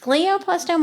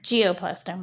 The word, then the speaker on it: glioblastoma: know, brain cancer in general, or is it glioblastoma or geoblastoma?